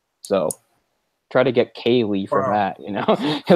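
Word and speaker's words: Ceilidh: of that for instance a popular Gaelic word that people know is Kaylee now a Kaylee means like sort of a party or a get-together the way Kaylee is spelled is like see this is this is paraphrasing this isn't but this is the ballpark of how you spell Kaylee it's like CEI LDH so try to get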